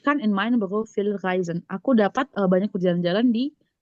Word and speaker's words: reisen: Ich kann in meinen Beruf viel reisen. Reisen. Oke. Reisen. Ada yang tahu artinya? Ich kann in meinem Beruf Ich viel reisen. Reisen ya. EI itu bacanya I.